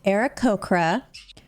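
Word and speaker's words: Aarakocra: well excuse me i'm an era cochran it's pronounced era cocra oh here we go again era cochrane yes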